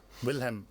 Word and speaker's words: Willem: And Can you spell that name out? Breuker, Breuker. Breuker. Willem. Willem, yeah, no, it's Willem.